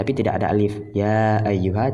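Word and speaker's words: يا أيها: Ya ayyuha tidak ada alif ya-nya ini, tapi dibaca tetap ada alif ketika dibaca. Kemudian seperti ya berjumpa dengan contoh alam, kita katakan Ibrahim.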